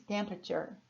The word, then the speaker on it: temperature: Temperatura, olha, digo sílaba por sílaba. Em inglês, temperature, temperature.